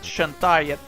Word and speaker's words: Shantae: the game was shantai i actually think it's pronounced like that shantae in english well not sure anyway